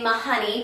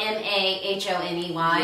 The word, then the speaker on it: Mahoney: her name is mary eliza mahoney and i keep wanting to say my honey because it's spelled m-a-h-o-n-e-y yes i want to say my honey so bad but it's not it's mahoney and you can look